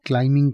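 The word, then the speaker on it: climbing: आई एन जी क्लाइमिंग ध्यान रखिएगा इसमें बी साइलेंट होता है इसको क्लाइमिंग नहीं क्लाइमिंग बोला जाता है बी नहीं बोला जाएगा या फिर आप असेंजर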